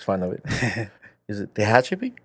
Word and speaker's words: Tehachapi: I'm sorry if I mispronounce the name of the city. My wife makes fun of it. Is it Tehachapi? Tehachapi.